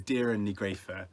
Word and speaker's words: Doireann Ní Ghríofa: But I actually made a little note to myself at one point as I was listening to the audiobook of how she says it, which is Doireann ní Ghríofa. I mean, I've still probably massively mispronounced it there.